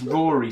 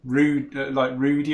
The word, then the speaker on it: Rory: A lot of people call him Rudy or Rudiger, but it is pronounced Rory.